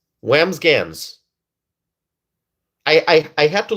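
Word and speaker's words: Wambsganss: Whamsgans. That's the last name. It took me It took me a while to figure this name out. Okay. It's Whamsgans.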